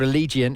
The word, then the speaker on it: Allegiant: It's spelled ale as in lager, giant. So, but it's called Allegiant in Vegas.